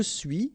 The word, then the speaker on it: suis: Okay, so je suis, final S not pronounced.